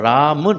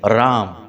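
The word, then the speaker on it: रां: राहु का मंत्र है यहां पर राम नहीं है राम अंक बिंदी है राहवे नमः इस मंत्र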